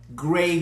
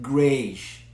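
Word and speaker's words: greige: Now, the word gray goods is spelled G-R-E-I-G-E, and some people pronounce it grayish. But in the industry, okay, oftentimes you will hear it pronounced gray, just like the color gray. So in this demo, I'm going to pronounce it gray.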